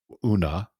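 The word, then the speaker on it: Úna: work in collaboration with una is that correct did I pronounce it correctly una yeah it's una but many people say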